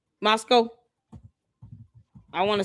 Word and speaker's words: Moscow: She went on and on just like Tucker did about how amazing Moscow is and how much better it is than the United States.